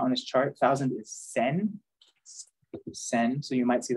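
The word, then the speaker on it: 千: just uh they change it for ease of pronunciation and there's also thousand it's not on this chart thousand is Sen send so you might see that you know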